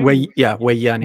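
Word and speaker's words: Woyane: You pronounce it Wayani? Sorry? Wayani.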